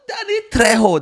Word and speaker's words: Trejo: man of God anymore Danny tro Danny Trejo that's how you say it Danny Trejo oh oh